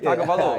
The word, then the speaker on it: Tagovailoa: Tua Tagovailoa. we know who you're talking You about. gonna call him Tua? Yeah. Nah, you said it right, Tagovailoa.